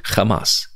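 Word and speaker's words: חמס: because there was Kamas that word is actually Kamas the Hebrew word Kamas the same pronunciation everything and it was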